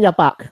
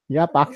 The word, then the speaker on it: yapak: We're using yapak.